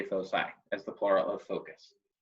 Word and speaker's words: foci: was very adamant that it is pronounced foci and not foci, as many people want to give that C a hard sound.